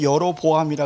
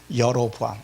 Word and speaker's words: 여로보암: 여기 보면 여로보암이라 그랬죠. 히브리 발음은 야르보암입니다.